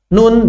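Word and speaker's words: نون: Nun, bacanya apa? Nun. Bukan dibaca na, ni, nu, tapi dibaca nun.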